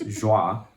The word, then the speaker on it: Joie: looked like, and I did not know how to say the word, kind of like the other thing, but it's Joie, right?